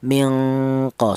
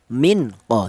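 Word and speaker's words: minkum: Mingko, seperti itu. Jangan nun mati ini jangan dibaca idhar. Apa artinya idhar? Jelas, jangan. Seperti contoh minko, jangan. Jadi cara bacanya nun mati ini disamarkan. Ya, mingko ya. Ini ifanya ifa ya, adna ya. Ini bunyi vokalnya ini ng, yaitu mingko, seperti itu.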